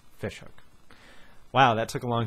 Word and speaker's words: Ghoti Hook: It was always pronounced Ghoti Hook, but if you think about it, it's Fish Hook.